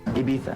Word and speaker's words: Ibiza: Ibiza. It was spelled I-B-I-Z-A, and they pronounced the I-Z as T-H, so it was like Ibiza.